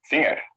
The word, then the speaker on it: vinger: In Dutch, vinger. Vinger. And plural fingers. So in Dutch, we don't pronounce the G here.